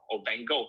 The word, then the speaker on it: van Gogh: and that's vincent and van gogh as we pronounce it in english but uh vincent uh